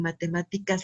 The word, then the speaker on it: matemáticas: sílaba pero en donde recae en matemáticas la sílaba tónica en la antepenúltima si las matemáticas vamos